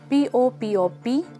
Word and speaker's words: POPOP: 2,5-diphenyl oxazole (PPO), 1,4-bis-5-phenyl oxazole 2-ol benzene, nicknamed POPOP, pronounced as it reads pop op, or 2,40-t-butylphenyl 5,400-biphenyl 1,3,4-oxydiazole-butyl PBD.